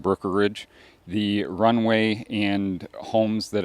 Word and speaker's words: Brookeridge: Brookeridge. Brookeridge. Brookeridge. Boy, I think I'm saying brokerage. Brookeridge. Brookeridge.